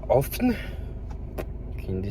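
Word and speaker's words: Höfn: Je viens d'arriver à Hoffen, qui est une des 6, ça se prononce comme ça.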